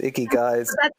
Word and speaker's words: ikigai: of ikigai i-k-a-g-a-i and there's a couple of ways to pronounce it but i've i've i know i know a few women who've met who've met them in bars icky guys that's that's exactly how i remember how to say it guy because of